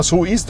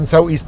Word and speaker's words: Soueast: زي ما هم يعني الصينيين عايزنا ننطقها سو ايست وهو ده النطق الصح لكنها هتنطق في الخليج وفي كل حته وكتابات ساوي ايست فانا انطقها زي ما انت عايز بس ايست هو النطق الصح طبقا للي قالوه لنا الصينيين يعني فالعربيه دي انتقلت